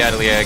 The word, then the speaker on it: atelier: Absolutely French. Yeah. And I know that because of the Atelier games, and that you don't pronounce the R.